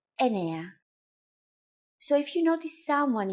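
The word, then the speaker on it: εννιά: Sometimes, though, especially in casual conversation, Greeks also use efta instead of epta, ochto instead of okto, and ennia instead of enea.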